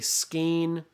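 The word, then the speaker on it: skein: yarn but it's a ske of silk okay it's SK i n but it sounds like a long a ske a okay so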